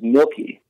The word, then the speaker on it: Milke: The proper pronunciation of my last name is Milky, and the proper pronunciation of my band name is Alesana.